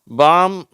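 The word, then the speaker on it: palm: வச்ச ரிப்போர்ட் வருதுன்னு பார்ப்போம் காம் பாம் எல்ம் பில்ம் இந்த ரெண்டு வார்த்தைல எல் வந்து சைலன்ட் ஆயிடுது ஓகேவா இந்த வார்த்தைகள உச்சரிக்கப்படுகிறது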